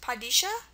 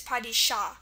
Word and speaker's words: Padishah: You can see if it was just an A, it would probably be pronounced Padishah, with the schwa, but because of the H, it's Padishah.